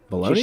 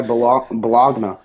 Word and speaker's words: baloney: should just go by Baloney? just go by bologna. No, it's baloney Jake. You pronounce it correctly, okay? Put some respect on the silent A and the representable deli meat that is baloney.